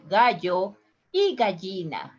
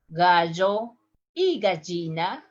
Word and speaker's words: gallina: If I have to pronounce this in the 3 different accents, I would say gallo y gallina. Gallo y gallina.